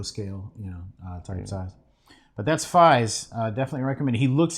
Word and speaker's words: Faiz: Faiz is made from sort of a forced pronunciation of the numeral 5 3 times. So it's I thought it was like German or something. No. It's like fives. Oh, okay. Like three, like the number 5 3 times.